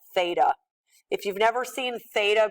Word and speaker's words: theta: symbol right here and this symbol is called Theta that's how you would pronounce that Theta if you've never seen